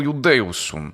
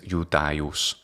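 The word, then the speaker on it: Iudaeus: Numquid ego Iudeusum. So of course he says Iudeus, the classical pronunciation is Iudaius.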